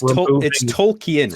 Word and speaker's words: Tolkien: hey learn how to read connection nice it's Tolkien right you pronounce the I tol Tok when you're writing